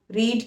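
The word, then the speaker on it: read: First form को हम रीड बोलते हैं, लेकिन सेकंड और थर्ड फॉर्म में हम उसकी प्रोनाउंसिएशन डिफरेंट कर देते हैं और उसको रेड कहते हैं। रीड नहीं, रेड, जैसे कलर की प्रोनाउंसिएशन होती है ना, लाल रंग, वो वाली।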